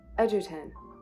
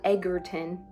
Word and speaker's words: Edgerton: Edertton, not Edgarton. He's not an egg.